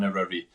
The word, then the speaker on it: Eryri: And Snowdonia Ultra Trail, and then there's Marathon Eryri, which is the road marathon in October. That was very good pronunciation.